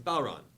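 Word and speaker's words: bodhrán: It's a Balron. It's spelled Bodran.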